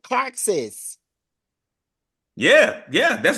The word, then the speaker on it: Caraxes: So this one was at the castle and it's called Carxus. Yeah, yeah, that's right, Jerry. That's pretty good. All right. It's pronounced Caraxes, but yeah, that's the Yeah. right dragon. And it's Caraxes.